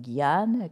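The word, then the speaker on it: jñāna: that's the holistic yoga naturally and karma no gyan karma through knowledge gyan is that word that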